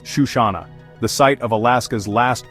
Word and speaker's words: Chisana: Our final stop is Chisana, pronounced Shushana.